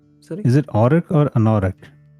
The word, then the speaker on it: Anauroch: Is it Orok or Anorok? Anorok, sorry. I don't remember how to pronounce it properly.